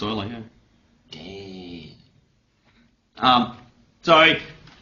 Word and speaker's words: Euler: Are you telling me I've been pronouncing like Euler wrong all these years? Apparently, it's pronounced Euler.